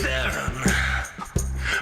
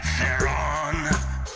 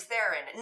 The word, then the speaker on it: Theron: The name was Charlize Theron. But people got unease in pronouncing it, and therein lies the problem of their own. So they say things like Theron, but they're wrong, Charlize, they're wrong, and hence this song.